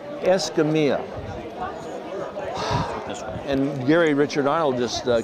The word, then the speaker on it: Escamilla: How do I pronounce it correct? Escamilla. Escamilla.